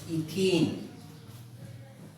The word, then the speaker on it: ethene: C2H6 means इथेन, फिर then C2H4 it means इथीन, इथीन spelling ETHENE, इथीन, NH3 ammonia, फिर then CH3OH methanol.